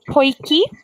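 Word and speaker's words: potjie: we have this dish it's called a poikie way oi you would probably pronounce it like that poi um but that's like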